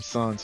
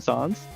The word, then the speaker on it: Sans: boss baby sans sp we call them suns for sure you call them songs i call them suns for sure are you pronouncing comic you're pronouncing it comic songs because that's the origin of the name isn't it i i